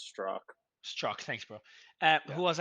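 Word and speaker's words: Strzok: at Twitter Mario for what it's worth it's pronounced straw struck thanks bro uh who was our general counsel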